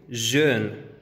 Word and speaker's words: jeune: Tenemos joven, jeune. Feliz, felicidad, bonheur. Ahora vamos con la letra U. La pronunciación de la U con labios redondeados siempre